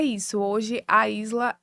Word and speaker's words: Aízla: Pronto, a Isla.